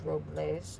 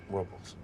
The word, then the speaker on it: Robles: They call it Paso Robles, Well, the correct pronunciation is Robles. but they call it Robles.